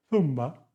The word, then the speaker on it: zumba: 7, zumba, suena como cero.